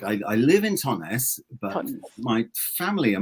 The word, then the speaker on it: Totnes: Just Totnes. Totnes. Just look how it looks, Totnes.